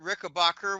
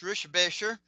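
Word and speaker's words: Richebächer: Um, I've actually met Kurt Rickbacher, which is actually pronounced Rishbasher.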